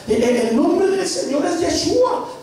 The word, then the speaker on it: Yeshua: Que el nombre se debe de pronunciar Yeshua.